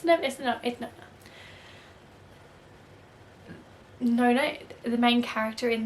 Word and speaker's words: Nona: I'm pretty sure, well, the narrator pronounces her name Nona, so I'm pretty sure that's how you say it. Nona. Nona? Nona. It's Nona.